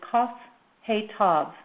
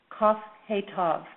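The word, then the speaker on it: כהת: energy and stress, and the way this name is pronounced is Kaf He Tav. Kaf He Tav.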